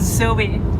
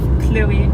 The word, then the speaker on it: Chloé: He always says Zoe instead of Chloe.